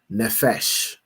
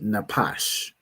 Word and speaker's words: nephesh: Right here, pronounce the word as nephesh because you know the the the Jewish man pronounce his p as a fa as an f cuz he's a fool, right? But this word would be napash, right?